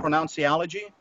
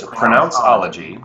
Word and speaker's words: Pronounceology: Pronunciology? It's just pronounceology. Pronounceology. So the word pronounce with ology, pronounceology.